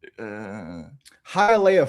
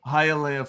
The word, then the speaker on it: Hialeah: It was in Hialeah, Florida. Hialeah, Florida. I made sure I got that pronunciation down because it's not totally straightforward.